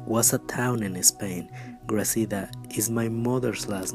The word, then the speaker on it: Gracida: Gracida is an unusual last name, so people usually just pronounce it Garcia.